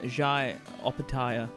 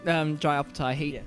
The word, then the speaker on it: Jai Opetaia: Okay, so he's not fighting on Jai Opetaia. Well, that's the thing. Pronounced that wrong. Jai Opetaia.